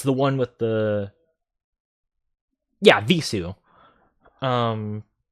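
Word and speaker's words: Vheissu: Yeah, Visu.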